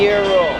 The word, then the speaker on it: gyro: Gyros. Yeah. Is it gyro or yurro? That is that has been the like one of the largest debates on how to pronounce a food. It's a euro.